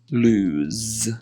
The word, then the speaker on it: lose: So when it's with one O, it's a Z sound. So lose. Whereas when it's with two O's, it's an S sound. So it's loose.